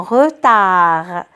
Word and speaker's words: retard: pas un retard un retard je n'entends pas d alors des miettes ailleurs